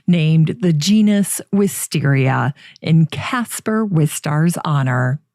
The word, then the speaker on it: wisteria: Nuttall named the genus wisteria in Casper with stars honor some people say with stariha to reflect the proper spelling of with stars last name however you pronounce it the misspelling is preserved